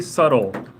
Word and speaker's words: subtle: surrounding area number three subtle so there is a B but you don't really pronounce the B it's just subtle the B is very